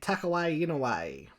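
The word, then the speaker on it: Takehiko Inoue: we shall be talking about slam dunk by tuck away in a way correct pronunciation slam dunk is a highly regarded Shonen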